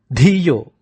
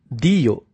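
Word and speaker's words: धियो: And finally, Dhiyo, not Diyo.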